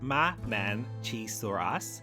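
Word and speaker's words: Mamenchisaurus: So, we've just introduced Momentosaurus, pronounced Ma Chisaurus, and Overaptor, pronounced OB Raptor, to the park, and the contrast between them is incredible.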